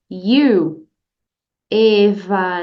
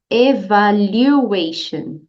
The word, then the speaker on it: evaluation: teacher evation evation então a letra U tem som de you you you é você em inglês então é só você usar essa pronúncia you evaluation repete com a teacher evaluation muito bem não tenha